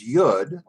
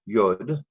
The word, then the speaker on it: Yud: However, we get to this next letter, which is Yud. It makes the sound of Y, Y-O-D, Yud, or Y-U-D, Yud, whichever way is easier for you.